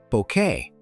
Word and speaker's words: Bucket: life the character of Hyacinth Bucket pronounced bouquet as she often insisted Hyacinth was the ultimate